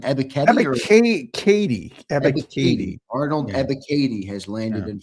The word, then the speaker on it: Ebiketie: How do you pronounce the name? Ebiketie? Ebiketie.